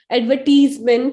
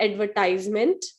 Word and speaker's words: advertisement: Advertisement is the right pronunciation, not advertisement.